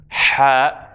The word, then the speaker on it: ح: This letter, which is pronounced ha, happens higher in the middle of the throat.